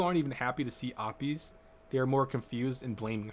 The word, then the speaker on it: Apis: you pronouncing your name it is uh it no it's it's opie's oh but i just heard the guys say opps watch when she said her name she said it opi's in the last episode